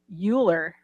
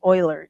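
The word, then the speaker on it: Euler: spelled to look like uler is really pronounced Oiler in german yes it's like Munich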